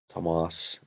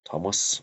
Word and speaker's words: Tomás: are both completely fine thomas thomas are completely fine and so we're all